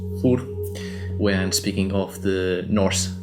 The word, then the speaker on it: Þórr: likely I will pronounce Þórr when speaking of the Norse thunder god. I often pronounce the names of the gods in Swedish because that's how I